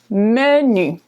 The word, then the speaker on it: menu: in English it's okay same word just pronounced the French way right menu in French menu menu in France typically